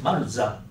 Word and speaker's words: Maruzan: company name, Marusan to Maruzan. The spelling like should be M-A-R-U-Z-A-N, something like that, the pronunciation, but still using the same S-A-N logo, but just changed to this logo in 1967.